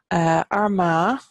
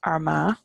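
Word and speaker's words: Ard Mhacha: Connell here we have tier on so Tyrone our ma is our vodka which is Marcus height the heights of maka that's our ma over in down this is this is pretty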